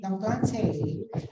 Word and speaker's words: plantae: Ang tamang pronunciation daw ng plantae ay plantae, no? Yan, yung AE daw ay E lang talaga, no? According to classical Latin, no?